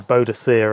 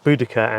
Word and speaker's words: Boudica: It always used to be you know bodhicere and the eini but the correct pronunciation you know according to the people who study you ancient Celtic languages is budaca and thei bodisa arrives um effectively from a